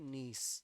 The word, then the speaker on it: gneiss: Granite convert होता है नीस, जी silent है, ठीक है।